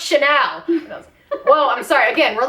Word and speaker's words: Chanel: like look Jenice it's channel and then some lady at the stand it just most detesting look on her face is just like it's pronounced Chanel well I'm sorry again